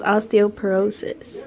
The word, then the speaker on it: osteoporosis: It was osteoporosis. Well, I didn't know how to pronounce it.